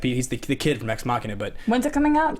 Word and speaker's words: Ex Machina: I still can't pronounce that. Is that how you say it? Ex Machina? Yeah, Machina.